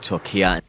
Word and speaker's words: Türkiye: to call it, That have devastated parts of Türkiye. Turkey. You'll notice I'm saying Türkiye. I did notice you were saying Turkey. Türkiye.